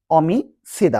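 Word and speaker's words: homicida: অমিসিদা অমিদা মানে মার্ডার বা খুনি। দেখেন স্প্যানিশ আমরা আগেও জানি যে এ কোন উচ্চারণ হয় না। তাইলে এটা বাদ দিয়ে যদি উচ্চারণ করি তাহলে অমিসিদা।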